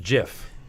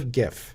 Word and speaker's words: giff: if not per month not pronounced jiff right correct it is definitely a definitely gif all right good to